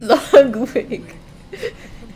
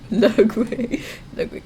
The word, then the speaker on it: Ludwig: Ludwig. That's how you say it. Ludwig.